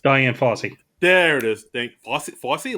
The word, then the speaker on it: Fossey: Fossey, like Fosse Vernon. Not spelled the same way, but pronounced the same way.